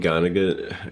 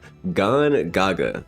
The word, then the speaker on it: Gongaga: You're in Ganaga. Am I saying it right? Gongaga. I said Ganaga. Gongaga, and I haven't done a lot of side missions there.